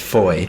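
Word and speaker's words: Fowey: do you pronounce that I would say Foy Foy right it's Foy I don't know how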